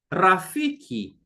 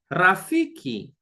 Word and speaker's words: rafiki: version of the name friend whom we say Rafiki Rafiki all right Rafiki sound r we from there we s s which we pronounce as S as in soup a good